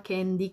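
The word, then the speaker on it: Kandy: Ah, e per chi se lo domanda, si chiama Candy con la K, perché tutti sbagliano a scrivere sotto nei commenti o in privato e si scrive K con la Y finale anche, per cui molta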